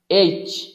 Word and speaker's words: H: দেখেন এখানে লেখা আছে এ, বি, সি, ডি, ই, এফ, জি, এইচ। এই এইচটাকে অনেক ব্রিটিশরা হেইচও পড়ে। কি পড়ে? হেইচ, হেইচ।